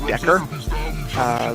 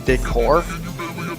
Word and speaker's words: decor: Some of them are to make a rhyme, like he references shabby chic decker. The word is decor.